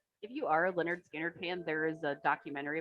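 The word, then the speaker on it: Lynyrd Skynyrd: their first album was called pronounced leaner skinner like they were uh that's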